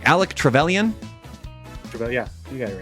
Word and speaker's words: Trevelyan: I always get the name wrong. Alec Trevelyan?